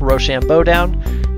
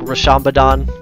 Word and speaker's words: RoShamBoDown: I got the title up at the top Rochambeau down and that is the way to pronounce it it's it's not like rashambadan or anything like that you click how to